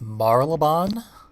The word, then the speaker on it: Marylebone: We're in a town that I believe is pronounced Marylebone. The loading screen fucked it all up, called it Saint Marylebone.